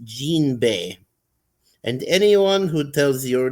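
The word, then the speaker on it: Jinbe: Hello or in the official vanted poster drawn by Oda Xinbe's name is spelled J I N B E and pronounced Jeanbe and anyone who tells you're different is wrong.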